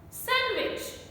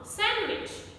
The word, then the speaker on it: sandwich: girl chief no handkerchief sandwich sandwich is wrong sandwich another common word wednesday now many non-native